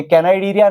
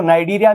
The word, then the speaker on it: Cnidaria: ये कैनाइडीरिया नहीं है, इसका सी साइलेंट रहता है, ये नाइडीरिया इसको पढ़ते हैं। टिश्यू लेवल ऑर्गेनाइजेशन किसमें होती है? जो नाइडीरिया में ऑर्गेनिज्म पाए जाते